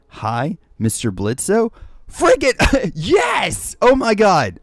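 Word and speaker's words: Blitzø: sister says Hi Mr blitzo freaking yes oh my God I freaking love well the O is silent but Blitz how's it going Dylan wait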